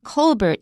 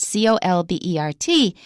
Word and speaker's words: Colbert: Originally Stephen Colbert, Colbert. When he was pursuing his career in comedy, he changed the pronunciation, not the spelling, but the pronunciation to Stephen Colbert.